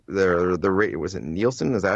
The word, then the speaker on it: Nielsen: Apparently, the Nielsen, the rate, was it Nielsen?